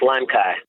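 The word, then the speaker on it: Limecai: it l-i-m-e-c-a-i c-a-i limestyle lime kai limesci let's agree that it's lime kai it sounds like lime and acai lime psy yes you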